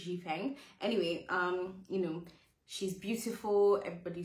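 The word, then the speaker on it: Xifeng: I should have checked how to pronounce this. My bad. I think it's Ji Feng.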